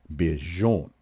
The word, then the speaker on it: Bijan: Similar confusion for him, as Robinson said his first name is technically pronounced Bijan. Bijan.